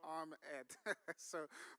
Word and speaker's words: Ahmed: My name is Ahmed. You know, when people pronounce my name, and I say this all the time, it's arm and head. So arm, Ed.